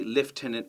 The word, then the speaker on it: lieutenant: then you'll understand why even though we say lieutenant it's got that u in there and you'll spell it left hand correctly thank you